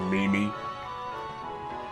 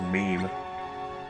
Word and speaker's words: meme: That's how I used to think you pronounced that word, Mimi. And I found out it was just meme.